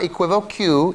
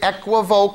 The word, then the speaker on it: equivoque: It is not equivoque. It is not equivoque. The word is equivoke.